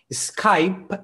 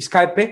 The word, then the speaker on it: Skype: a skype a skype y así que fijaos skype es la pronuncia original y escape como lo dicen como dicen los hispanos acá